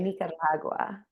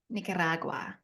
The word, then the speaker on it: Nicaragua: the local say it you have to say Nicaragua Nicaragua Nicaragua okay tell us about